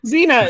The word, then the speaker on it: Xena: Xena, it's spelled with an X.